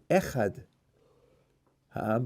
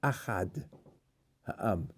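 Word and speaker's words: אחד: Not echad ha'am, but achad ha'am. What's achad? Same letters as one, but isn't pronounced the same way.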